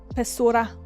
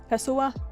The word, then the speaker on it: pessoa: Apenas uma pessoa. I don't know if it's Spanish, but that felt like the correct way to pronounce it.